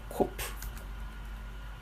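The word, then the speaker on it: קוף: 보시면 되겠습니다 예 4 코프 가 되겠고 그거는 이제 q 발음 인데요 다시모 q 발음하고 k 발음하고 뭐 크게 다르게 들리진 안쪽에 여기 또 동일하게 카 라고 발음을 하시면 되겠습니다 일단 지 카 프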